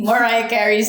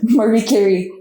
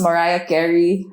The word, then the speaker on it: Mariah Carey: I love Marie Carey. I guess it's I think it's pronounced Mariah Carey.